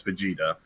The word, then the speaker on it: Vegeta: happy for you nonetheless i'll tell you how to pronounce it it's vegeta yeah it's the ghetto for